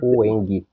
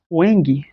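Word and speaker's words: UEMG: Ueng. Ueng. Aqui que tá UMG. É. É, mas a pronúncia é o eng.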